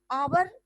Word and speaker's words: hour: उसी तरह आवर, HOUR, आवर जो है वो है कॉन्सोनेंट पर उसका प्रोनाउंसिएशन आवर, आवर है, तो इसके लिए आप एन का इस्तेमाल करेंगे।